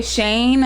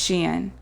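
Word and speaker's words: Shein: other ways so many i heard some people say shane and it is not shane it's sheen i don't know but anyway how is this spelled s-h-e-i-n-n and and uh s-h-e-i-n yeah sounds like she into me but um but yeah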